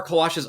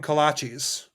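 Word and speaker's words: kolache: And so now like one of like there are kalashes all over Texas. It turns out there's all these bakeries that specialize them. But they call them kalachis. Kalachis. Yes. Yeah. They do not say it right.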